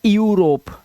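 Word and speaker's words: Europe: इयू तो इसे इयू नहीं पढ़ना। यूरोप। ठीक है? इसे पढ़ना है यूरोप।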